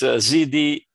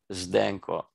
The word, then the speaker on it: Zdenko: It's a very hard pronunciation, but it's even worse spelling. It's Zdenko, Zdenko.